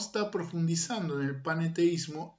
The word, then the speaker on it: panenteísmo: Quiero eh expresar bien esta palabra paneteísta para diferenciarla de otra cosmovisión que se pronuncia casi casi igual. Eh, y tiene ciertos parecidos que es el panteísmo y no es el panteísmo el paneteísmo, aunque la diferencia es muy sutil.